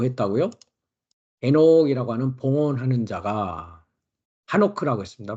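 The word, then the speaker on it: חֲנוֹךְ: 에녹이라고 하는 봉헌하는 자가 하노크라고 했습니다.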